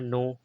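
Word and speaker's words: know: के साइलेंट का हो, ये सब इसके बाद एन आवे, तो यहाँ नो, के एन ओ डब्ल्यू का नो पढ़ा है, यहाँ के इसलिए साइलेंट है, इसके बाद एन है।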